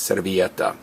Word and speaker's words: servilleta: napkin napkin CET and again the Double L is pronounced as a y so it's cetta beans are free holes